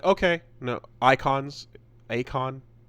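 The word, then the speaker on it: Eikon: No, it's they wanted to say icon like I O N, but they wanted to make it sound fantasy style, so they put an E in front of it.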